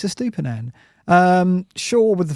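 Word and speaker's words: Estupiñán: Finally, I can pronounce that now. Estupinan.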